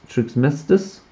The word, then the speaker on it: Trismegistus: So House Trismegistus, that's how it's pronounced.